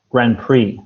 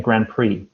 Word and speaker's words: grand prix: forget about the x forget about the x the x is silent it's just like this grand prix a grand prix in bahrain every year